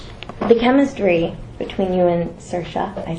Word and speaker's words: Saoirse: The chemistry between you and Saoirse, I said it right, it's very powerful.